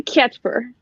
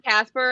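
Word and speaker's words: Kacper: It's technically Catchper. Catchper. Yeah. So most people just call him Casper, and that's fine. That's okay.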